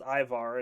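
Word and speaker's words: Ímar: Baird's Viking father, Emer, pronounced Ivar, and not to be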